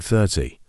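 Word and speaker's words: thirty: at the word 30 this word also has two syllables 30 we stress the first syllable it sounds like 30 let's try to say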